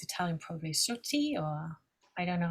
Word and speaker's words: Sciutti: Maybe Erica can help me to pronounce correctly the name, because I think it's Italian, probably Sciutti, or I don't know how you would pronounce it. Sciutti.